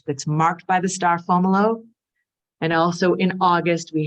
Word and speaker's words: Fomalhaut: Looks like Fomalhaut, but it's Fomolo.